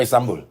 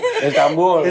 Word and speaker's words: Istanbul: tanggal 25 Januari ke Istanbul Istanbul ya jadi Istanbul Istanbul nun mati ketemu B itu iklab jadi bacanya m Istanbul Istanbul emang gitu